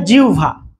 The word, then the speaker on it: জিহ্বা: আপনার জিহ্বা হয় না তো আসলে উচ্চারণ বোধহয় জিউভা ঠিক আছে কিন্তু এরকম বললে তো